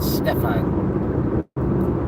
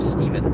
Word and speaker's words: Stephen: They'll pronounce it Stefan instead of Stephen.